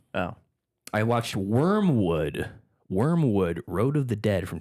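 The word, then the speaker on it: Wyrmwood: And, Wormwood, it's spelled WYRM Wood. Wormwood, which is the name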